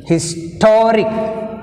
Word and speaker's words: historic: end you take stress on the second syllable historic historic story tone rick rick one talk two